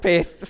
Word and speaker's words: pyth: Ran to the manager after and I've always thought it was Pyth. I've always corrected people like, "No, it's pronounced Pyth." Manager was like, "Okay." Didn't like you saying that. It's pronounced Pith.